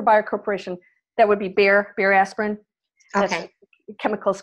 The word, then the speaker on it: Bayer: That would be Bayer aspirin. That's Okay. a chemicals company over there. Okay. And pronounced Bayer.